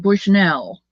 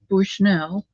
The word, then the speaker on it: Bushnell: we he called it Bushnell and I said don't don't let anybody hear you say Bushnell because it's bushnel you got to say it like one word you think he's